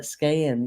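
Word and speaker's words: Skagen: It says it's pronounced with a silent G, like rain, like Skayen.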